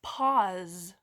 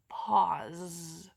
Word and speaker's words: pause: do you hear is this is an interesting one because it's not made by the letter Z it's made by the letter s pause what is the last